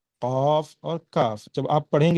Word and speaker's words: قاف: آپ کی زبان۔ قاف، قاف کو بعض لوگ خاف پڑھتے ہیں، ٹھیک ہے، یہ طریقہ، یہ تلفظ بالکل درست نہیں ہے، بلکہ قاف کو قاف کی طرح ہی پڑھنا چاہیے۔ اگر پریکٹس نہیں ہے